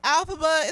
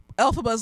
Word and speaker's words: Elphaba: So if you come on here and be like, oh, it's not pronounced Elphaba, it's pronounced Elphaba.